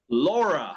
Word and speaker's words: Laura: same as in Spanish, but how do you pronounce it in English? Laura in English. Laura. Laura, that's right, Laura. Como si yo tuviera, si fuera un pirata gringo con una Laura en mi hombro.